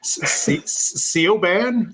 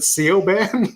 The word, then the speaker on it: Siobhan: someone else did and I'm just like like Seoban. Is it Sean? Yeah.